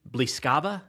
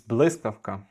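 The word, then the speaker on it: Блискавка: So, am I pronouncing this correctly, Blyskava Blyskavka? It's Blyskavka.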